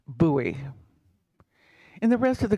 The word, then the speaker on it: Bowie: book the letters at b-o-w-i-e in Arizona refer to the town and it is pronounced buoy in the rest of